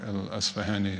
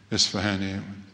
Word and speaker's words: al-Asfahani: And when you want tahqiq about what the words actually mean, Raghib al-Asfahani is your man. Isfahani, Persians will object and say, but this is the Arab pronunciation of his name.